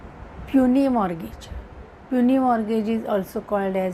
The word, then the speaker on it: Puisne: mortgage असेही म्हटलं जात काही जण याच प्रोनन्सिएशन पसने मर्गेज किंवा पुसने मर्गेज असे करतात पण पनी मॉर्गेज अस म्हटलं जातं तर आपण पनी मॉर्गेज